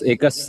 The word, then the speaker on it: Aequs: एकस एकस एक्चुअली आप सही प्रोनाउंस किया।